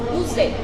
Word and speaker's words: Zé: How is it pronounced, first of all? O Zé. O Zé.